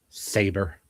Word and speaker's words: Saber: a similar name, but they pronounce to like Sabra or whatever. And so I'm like, okay, that's a hummus. Oh, yeah. So, so it's Saber.